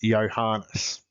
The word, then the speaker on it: Johannes: My parents always called me by my full Christian name, Johannes, which in the Danish manner they pronounced Yanas.